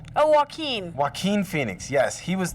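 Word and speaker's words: Joaquin: No, it's Waqen. Oh, Wen.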